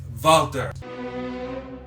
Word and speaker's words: Walter: keep in mind E is what is the pronunciation it's vaulter Walter those exact jump out at you